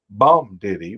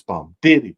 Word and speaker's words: bum diddy: It's not bum diddy with the accent on the bum. It's bum diddy bum diddy bum diddy bum.